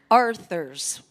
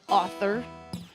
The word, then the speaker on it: Arthur: You want to say it like an author, but it's Arthur, like King Arthur.